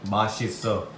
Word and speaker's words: 맛있어: Say, mashisa.